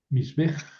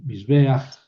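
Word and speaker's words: מִזְבֵּחַ: Ah, primero la pataj. Sí, porque es furtiva y es precisamente para evitar la rudeza de la pronunciación. Misj. Mis bej es muy rudo. Entonces, mis beach se suaviza la pronunciación.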